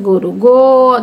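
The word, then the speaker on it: গোরু: আমরা আগে গ রয় বিন্দু রস্যুকার পড়েছি গরু, এখন গয়কার রয় বিন্দু রস্যুকার দিয়ে বলছে গরু। যেহেতু আমাদের গরু উচ্চারণ যখন করি ঠোঁটটা গোলাকৃত হয়ে আসে, ওকারের উচ্চারণটা চলে আসে, এই জন্য বাংলা একাডেমি গরু বানান এখন গয়কার রয় বিন্দু রস্যুকার দিয়েছে।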